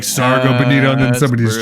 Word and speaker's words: Sargo: I pronounce it Sarjo just because I see Sarge and I'm like, yeah, per Sarge. But yeah, I've gone Sargo. It could be Sarjo. Like Sargento. Sargo. However they pronounce the fish.